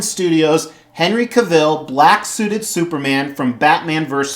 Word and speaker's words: Cavill: Henry Cavill, I think it's supposed to rhyme with travel, Cavill.